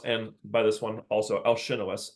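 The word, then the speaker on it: Alcinous: by this one also Alin or alinos is usually how I've heard it pronounced all my Greek friends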